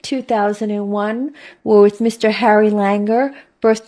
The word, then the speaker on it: Langer: could you please tell me your name and spell it my name is Harry Langer l a n g r Hill's name Harry